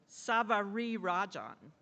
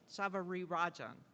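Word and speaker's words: Savarirajan: she's taught me how to say her name Savar Rajan Savari Rajan was that all right good is Professor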